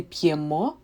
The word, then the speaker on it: п'ємо: In ми, ви, the stress is on the last syllable. Ми п'ємо, ви п'єте.